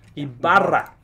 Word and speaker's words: Ibarra: Ibarra. Ibarra. You got it. Sometimes you're going to roll the R.